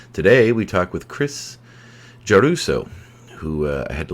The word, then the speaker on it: Giarrusso: never failed me yet juso is how you pronounce it it's an Italian name and yeah is great